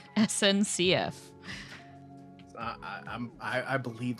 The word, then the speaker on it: SNCF: an official from the French stateowned rail company Snickf. SNCF.